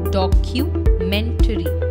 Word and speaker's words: documentary: It is often incorrectly pronounced as documentary. Please remember, CU will not be pronounced as ku, but as Q. Q. Documentary. So the correct pronunciation of the word is documentary.